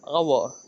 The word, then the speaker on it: hour: It took me an hour. Wait, do you say a hour or an hour? You say an hour, right? Because it starts with H, but the H is silent.